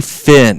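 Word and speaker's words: Phin: If you guys got a pool, and this works really well for landlords too, get a Fin. It's spelled P-H-I-N.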